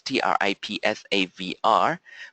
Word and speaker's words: Tripsavr: So Tripsavr is spelled as T-R-I-P-S-A-V-R because this is what this product is for. Saving for you, okay. Tripsavr, as the word saver, is saving for you.